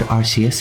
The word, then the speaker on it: Arceus: It is pronounced Arceus, MD House said so.